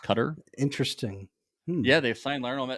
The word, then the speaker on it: Qatar: the state of qatar some call it guitar but i believe that it's pronounced cutter interesting yeah they've signed